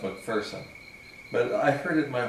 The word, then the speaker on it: McPherson: i've been doing happens yeah like person technically but i grew up pronouncing pronouncing the incorrect